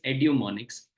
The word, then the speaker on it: Edumonics: I'm the founder of Edumonics Learning. The pronunciation is Edumonics, and I'm the trustee of Sadgamya Trust.